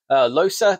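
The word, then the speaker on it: Loosa: Losa, they call it, but it's spelled Lusa.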